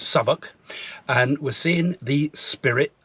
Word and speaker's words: Southwick: Well, today we're in a place called Southwick, pronounced by the locals as Southwark, and we're seeing the spirit of D-Day.